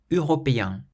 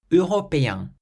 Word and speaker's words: européen: Européen, européen, means European.